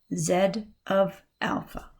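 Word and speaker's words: z(α): of alpha so here it is right here pronounced Zed of alpha all right so Z of Alpha it's not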